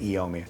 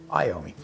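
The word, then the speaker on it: Iommi: don't wear Tony iomi I've been calling it eoma it's someone's sharing say you're saying it wrong and it's true I apologize I owe me so I don't wear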